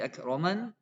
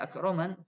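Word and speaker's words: أكرمن: Rabbi akroman, kalau berhenti ya akroman, nggak boleh akrom.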